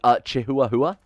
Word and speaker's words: Chihuahua: Sorry, Chihuahua, I think is how that's actually pronounced.